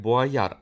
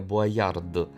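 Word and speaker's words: Boyard: А якщо казати про форд, до речі, він читається саме як буаяр, а не буярд, тому що остання літера у французьких словах майже ніколи не вимовляється.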